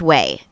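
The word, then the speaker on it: OUAI: whey yes it is they spell it o-u-a-i it's pronounced way the way t-h-e-o-u-a-i dot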